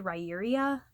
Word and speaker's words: Riyria: He is very skilled at combat, and for a long time before being part of Riyria, it's spelled like it's supposed to be said, Riyria, so sometimes I have a hard time saying it.